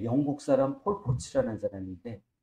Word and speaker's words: 폴포츠: 가슴 예 영국 사람 폴포츠라는 사람인데 폴포트하고 폴포츠하고 단하여 발음을 잘해야 돼 폴포트는 캄보디아 킬링필드 근데 거기 죽은 그 그 캄보디아 투상인가?